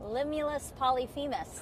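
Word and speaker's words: Limulus polyphemus: The one we have here is called Limulus Polyphemis. I say that three times. Limulus Polyphemis.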